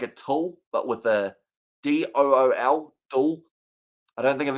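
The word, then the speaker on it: Doull: I was like doll how do you pronounce that uh dull no so Simon dool so I guess if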